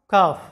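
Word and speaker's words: cough: এরপরে দেখো লাফ যেটার বাংলা অর্থটা হচ্ছে হাসি এরপরে দেখো কাফ যেটার বাংলা অর্থটা হচ্ছে কাশি এরপর দেখো টাফ যেটার বাংলা অর্থটা হচ্ছে শক্ত বা শ্রমসাধ্য।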